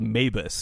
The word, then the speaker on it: Maabus: And it was called Mabus. And you can Google this game. It's spelled Maabus.